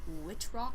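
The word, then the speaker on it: Wittrock: a guy played by Finn which rock I think is how you say his last name and there's a spoiled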